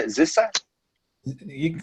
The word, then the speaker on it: Zissis: Zissa? You can call me Zesis.